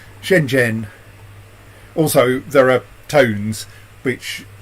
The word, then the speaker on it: Shenzhen: Shenzhen. I'm not sure it's actually that second consonant is voiced, but Shenzhen.